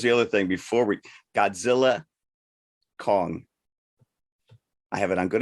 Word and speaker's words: Godzilla x Kong: other thing before we Godzilla Kong I have it on good authority by the man himself Adam Wingard the x is silent well then don't put